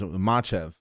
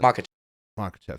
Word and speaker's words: Makhachev: Makhachev, right? Was it Makhachev?